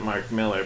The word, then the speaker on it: Millar: I think he pronounces it Mark Miller, but if you call him Mark Miller, then nobody knows who you're talking about.